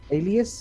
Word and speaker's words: Aelius: live from South Africa with our guest of Aelius, is it? Yes, that's absolutely correct. More people are is that starting how to pronounce it correctly nowadays now.